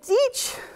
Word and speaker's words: Deitch: Okay, so Jeffrey Deitch, it's pronounced Deitch, but it looks like Deitch to me.